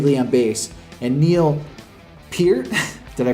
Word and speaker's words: Peart: on guitar, Geddy Lee on bass, and Neil Peart, did I pronounce that right this time?